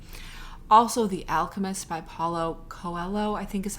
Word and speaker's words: Coelho: it in mind also the alchemist by paulo coelho i think is how you say his last